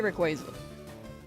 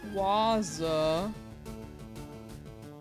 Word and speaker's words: Rayquaza: I I say Rayquaza. You say Rayquaza. Uh it just sounds odd the other way around for you for some reason.